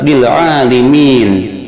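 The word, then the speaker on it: لِلْعَالِمِينَ: Yang ke-13, lafaz bil alimin, surat Ar-Rum ayat 22, lamnya yang kedua dibaca kasrah.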